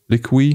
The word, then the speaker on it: Liqui: Liqui? No. It's spelled like liquid, but without Liqui.